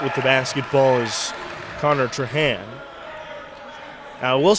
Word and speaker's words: Trahan: blake last name traja you wouldn't pronounce the end it was troha we'll go with trohan right now and you